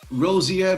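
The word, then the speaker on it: Rozière: let's check my pronunciation is it called a rosie air balloon is that correct it is yeah yes that's it yes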